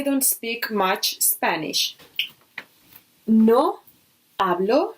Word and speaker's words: hablo: speak much Spanish no hablo remember that we don't pronounce our Chi no hablo espanol I